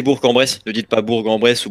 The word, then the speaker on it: Bourg-en-Bresse: donc il claque c'est à bourg-en-bresse il faut prononcer bourg-en-bresse de 10,2 pas bourg-en-bresse ou bourg-en-bresse les gens